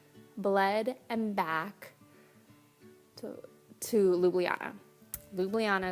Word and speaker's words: Ljubljana: Ljubljana is how you say it. No one knows how to say it, but Ljubljana. I made sure.